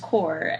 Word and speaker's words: Corps: it's confusing cuz like it's spelled with like an S but then it's just core and then you have